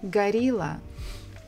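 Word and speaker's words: горилла: be gorilla gorilla and in Russian it will be the same gorilla garila so many words in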